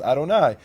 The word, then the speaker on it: Adonai: and the rabbis told them that word is pronounced as Adonai and they said okay what's Adonai mean Lord